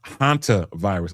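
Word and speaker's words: hantavirus: It's pronounced hanta virus.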